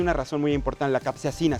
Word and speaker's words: capsaicina: Además, creo que hay una razón muy importante, la capsaicina, se pronuncia capsaicina. correctamente. Capsaicina. Tiene un factor importante digamos, efecto positivo en el organismo, Es un antiinflamatorio.